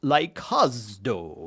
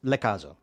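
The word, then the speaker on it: λαικάζω: Now, the other term he used, which he pronounced laikazdo, right? That is his Cambridge pronunciation, laikazdo, of reconstructed ancient Greek. He has all of his laikazdo. He makes the omega very long. For me, it's lekazo, okay? Lekazo, because the alpha iota is pronounced like e.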